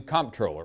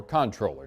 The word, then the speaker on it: comptroller: This afternoon, Glenn Hager became the state's new comptroller, or controller, depends on your pronunciation.